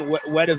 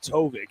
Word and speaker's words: Tovik: I kept saying Wedovic. It's Tovik, as you were saying, Jay.